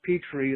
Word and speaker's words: Petry: Petri welcome to the fascination street taking it's actually pronounced Petrie like the dish you know that's funny